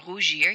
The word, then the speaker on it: rougis: The left side here is pronounced E. Rougi, rougi, rougi.